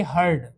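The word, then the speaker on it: heard: हियर, हियर में डी लगा तो हियर का हो गया ये हर्ड, हियर को हियर्ड नहीं पढ़ेंगे, क्या पढ़ेंगे? हर्ड।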